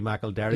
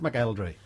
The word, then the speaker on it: McElderry: Why is it McElderry? Because I didn't actually know that was the way it was supposed to be pronounced, and I just used to. I was always called McElderry at school. That was just the way the teachers pronounced it.